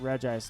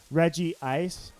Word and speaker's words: Regice: Regice sounds like royalty I pronounce it Regice none of this Regice garbage Reggie ice I used to call it Reggie ice and so I realized there was no second eye in there because I was like